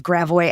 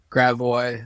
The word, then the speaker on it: Gravois: Uh, happy to talk about Gravo or as some non-native St. Louises may call it, Gravo. Gravois. I remember pronouncing it that way when I first moved here.